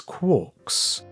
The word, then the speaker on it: quark: to these subh hadronic fragments as quarks rhyming with pork but he never considered